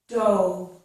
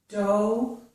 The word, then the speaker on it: dough: But notice that the GH is not pronounced in these words.